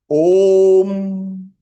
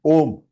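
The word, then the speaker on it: ॐ: But in Devanagari, it is pronounced as O Pluth. O three times. Om. Now Ma is half. Similarly, like Anuswar, half means So Om. Om. Om. O three times. Om. It is not Om.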